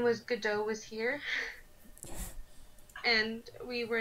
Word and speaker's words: Godot: It's It's Godot.